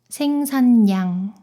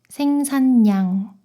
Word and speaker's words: 생산량: 이 단어를 오늘 배운 대로 발음하면 생살량이 되겠죠. 그런데 그게 아니라 리을이 니은 소리로 변해요. 생산량, 생산량.